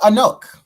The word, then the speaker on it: Anok: Any am I pronouncing her name right? Ano? Ano? Anoke.